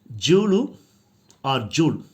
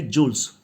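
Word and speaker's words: Jules: About the author, Jul don't say jewels. S is silent.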